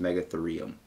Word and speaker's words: Megatherium: It's spelled rheum, but it's actually, like, pronounced Megatherium.